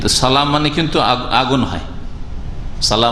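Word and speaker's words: صلاة: তো হাইয়া আলা صلاح সালাহ হইতে হবে যদি কেউ صلاح শুধু বলে যেমন অনেকে সালা সালা সালা মানে লাম শুধু হইলো তো সালাহ মানে কিন্তু আগুন হয়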